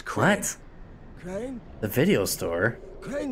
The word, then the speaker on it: Crane: okay the video store crane rhymes with train and brain and sun and gray